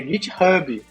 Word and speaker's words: GitHub: Aí ele falou, tá, é GitHub. Falei, putz, cara, sério? Toda vez que eu vejo um H, eu pronunciava desse jeito.